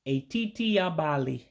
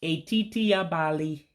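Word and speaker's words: etiti abalị: Remember the E's turn to A's and the I's turn to E's when you try to pronounce it. And that I with the dot underneath, again, that's a diacritic. That means you say it sharply, meaning you raise your voice.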